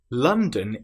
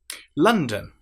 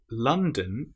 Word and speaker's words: London: London. What sound is in London? It's not london as it looks like it should be. It's l so a and then dun. Our most common vowel sound lon.